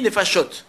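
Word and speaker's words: נפשות: Mais en hé- en hébreu au singulier on dit nefesh et au pluriel on dit nefashot.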